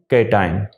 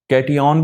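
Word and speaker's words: cation: इस कंपाउंड को CH3 और ऊपर अगर आप प्लस लिखें मिथाइल कैटाइन, कैटियन भी कह सकते हैं, मुख्तलिफ इसकी प्रोनाउंसिएशन है लेकिन मैं कैटाइन कहना ज़्यादा पसंद करूँगा।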